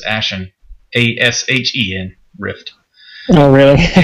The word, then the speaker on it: Ashen: I always pronounced it with a T for some reason, but it's Ashen, A-S-H-E-N, Rift.